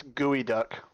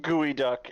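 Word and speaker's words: geoduck: duck Daren is flustered it's pronounced gooey duck and it's a clam but meal that people eat and it's gross but if it's gooey duck it should be g o e not g EO doesn't make any make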